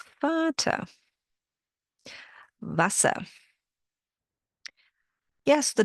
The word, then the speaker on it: Vater: Vater. Yes, it means father. But why did I pronounce the V like an F? Well, it's one of the German pronunciation rules. Vater.